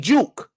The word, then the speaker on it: Juke: big uke by big Juke I'm called I called him yuke by accident because Jay's pronounced like a y in Spanish I do that sometimes